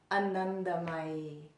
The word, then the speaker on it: Anandamayi: Anandamayi.